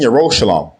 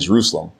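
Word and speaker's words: ירושלים: In Mount Seon and in Yerushalayim, which are mispronounced as Zion and Jerusalem, will be deliverance, as Yahweh has said.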